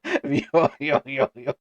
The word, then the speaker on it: miHoYo: I don't even know Miho yo.